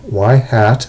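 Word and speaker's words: ŷ: models of this form y hat that's the way that's pronounced is equal to B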